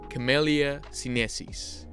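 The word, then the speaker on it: Camellia sinensis: comes from the plant camellia synesis camellia sinesis that's how you say it properly oh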